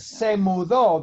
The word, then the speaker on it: se mudó: It's the same word, but no stress. The stress is me mudo. But se mudo, the stress is on the O.